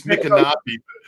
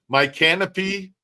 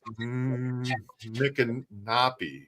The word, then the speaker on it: Micanopy: It's Micanopy, but it's funny because some people say my canopy, like canopy, my canopy, or Micanopy. So, but it's Micanopy.